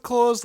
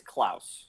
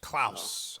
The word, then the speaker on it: Klaus: Is it pronounced Klaus like Santa? It can be, but usually it's Klaus. Klaus. Okay. Yes. All right. Klaus, like the fish in American Dad.